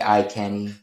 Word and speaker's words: EyeCani: No, it has to be like I Canny. Well, I pronounce it that way because of eye candy.